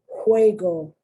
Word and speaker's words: juego: You have that because JU, the J is pronounced like a, it's not ja, it's juego.